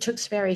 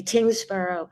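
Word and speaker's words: Tyngsboro: Chance Lee, who is the assistant director at my apologies if I mispronounced this, the Tingsboro Public Library. Tingsboro. I said Tewksbury. Forgive me. Tingsboro.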